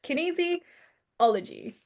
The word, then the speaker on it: kinesiology: It's well my business name is kinesiology with Erica so it's very in yourrface and a lot of people struggle to pronounce to say it but it's kinesiology kinesiology kinesiology